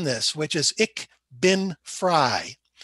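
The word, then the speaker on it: frei: which is ich bin fry now f r e i and f r e y the family name are both pronounced fry but ich bin fry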